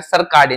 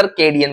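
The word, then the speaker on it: circadian: था मैं सर कार्डियन तो सॉरी यार सर कार्डियन नहीं होता सर केडिन बोलते प्रोनाउंस थोड़ा सा देख ले सर कैडियन रिदम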